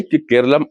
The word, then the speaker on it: केरलम: केरलम शब्द मलयालम भाषा का स्वाभाविक उच्चारण है। अंग्रेज आए प्रशासनिक दस्तावेज बने और उच्चारण बदल गया। केरलम केरला हो गया।